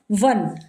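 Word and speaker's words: one: अब इसके शुरू में ए ओ है बट साउंड किसकी आ रही है? वन। हिंदी में आप इसको लिख के देखिए। तो वन begin with a vowel but कसोनेंट sound. ओ तो है जो कि वोवेल है लेकिन साउंड क्या है? डब्ल्यू की।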